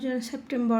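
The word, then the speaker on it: September: সেপ্টেম্বর সেপ্টেম্বর সেপ্টেম্বর এটা সেপ্টেম্বর হবে না আর এর উচ্চারণ হবে না এখানে শব্দে শেষে আর থাকলে সে আরটা উচ্চারিত হয় না এটা হবে সেপ্টেম্বর অক্টোবা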